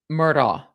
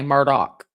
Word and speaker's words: Murdaugh: I think it's pronounced I mean, I would pronounce it by looking at it due to my hooked on phonics. Murtaugh. But they say Murdock.